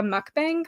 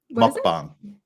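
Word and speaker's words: 먹방: is a Eating Room mukbang Muk mukbang mukbang it's like halfway between an o and a u it's one of those sounds we don't have in English I can pronounce like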